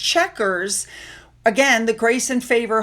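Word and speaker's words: Chequers: Now when this activity was over it was understood that Melania was going to travel to I believe it's pronounced checkers again the grace and favor home to join President Trump for the remainder of the day program.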